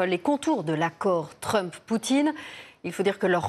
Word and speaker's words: Poutine: Il est d'ailleurs conseillé de prononcer Poutine.